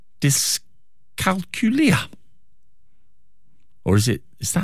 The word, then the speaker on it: dyscalculia: How do we pronounce it? Dyscalculia. So dyscalculia, that's it. So that's a good way to remember it. As you say, Kat, it sounds like Julia.